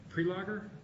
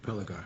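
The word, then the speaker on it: Prelogar: Is it Prelager? Prelager, I think.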